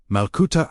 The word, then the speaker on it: Malkuta: One of those words is Malcuda, pronounced Malcuda Ara, meaning the divine reign, the living presence of God within.